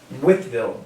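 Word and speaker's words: Wytheville: We did find out it is pronounced Withville, Virginia. You are watching OSI live.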